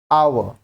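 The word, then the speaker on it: hour: यूज अ BA next आवर आवर आवर starts with a साइ एच यहां पर silent है एंड अ वाल sound so article an इज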